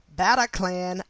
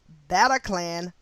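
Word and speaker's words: Bataclan: friday in another mass shooting wow paris france battle clan attacked attack of november 13 2015 and i will pronounce i will spell this word b-a-t-a-c-l-a-n paris france battle clan attack of november 13 2015.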